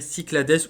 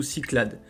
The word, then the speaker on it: Cyclades: On va aller sur ce qu'on appelle Cyclades ou Cyclades. Ça s'écrit ainsi, du coup, C-Y-C-L-A-D-E-S.